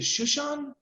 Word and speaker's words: Shushan: And today I'm so excited to be talking to, is it Shushan? Yes. Okay, good. I'm glad I pronounced that right.